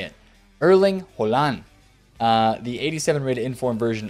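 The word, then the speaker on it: Haaland: hold on that's how you say it Erling hole on the 87 rated inform version of his card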